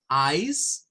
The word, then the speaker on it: ice: Entonces tenemos acá lo que sería ejemplo para el hielo, ice, para decir nice, que ya lo hemos visto, para decir mice, que es el plural de ratón, ¿verdad?